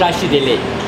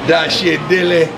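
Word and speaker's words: Tashi Delek: Dashi Dele. Dashi Dele? Yes, sir. Dashi Dele.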